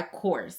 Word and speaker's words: COSRX: So the cleanser that I have for my skincare routine is the Low pH Good Morning Gel Cleanser by Course. I believe that's how you say it. Course.